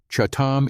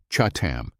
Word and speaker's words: chatam: Chatam is pronounced with a guttural ch sound that comes from the back of the throat, chatam.